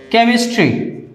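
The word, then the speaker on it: chemistry: আবার এর ব্যতিক্রমও আছে। সি এর সাথে এইচ থাকলে কোনো কোনো ক্ষেত্রে ক উচ্চারণ হয়। কিভাবে? যেমন কেমিস্ট্রি, কেমিস্ট্রি মানে রসায়ন।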